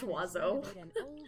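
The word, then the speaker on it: oiseau: I'm in San Oh, like Bird and Fresh, Wazo, pronounced Wazo. Wazo. She wants to open up a bed and breakfast. Like, no, that's not. I mean, it makes sense if you speak French and that's how you would sound it out.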